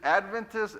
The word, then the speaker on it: Adventist: Seventh day Adventist with the emphasis on the first syllable rather than the second. So is it Adventist, Adventist or No, the first Adventist, right?